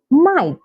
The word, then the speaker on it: night: light bright through through night night fight fight so can you see these examples have the G come right before the letter H but the g is silent so these are some